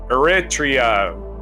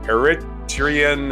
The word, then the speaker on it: Eritrea: In this featured event in history, in 1962, Eritrea made a province of the Ethiopian Empire. On this day in 1962, the Ethiopian Parliament in the Eritrean Assembly voted unanimously for the abolition of Eritrea's